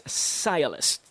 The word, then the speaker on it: sciolist: You're gonna love this term, as this one is pronounced as sciolist.